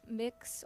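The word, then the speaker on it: Mx: student ambassador report from me and Dominica um the word of the day is mix or M you can really pronounce it either way um what it means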